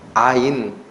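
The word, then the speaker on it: אַיִן: 여기 아무것도 아니다라는 이 단어가 히브리어로 발음이 뭐라고 나냐면요, 아인, 아인.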